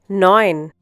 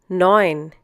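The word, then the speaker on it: neun: Similarly in the next one zeben once again zeben a once again a nin once again nin in this case e u is pronounced like o i for example in oil in English once again hope you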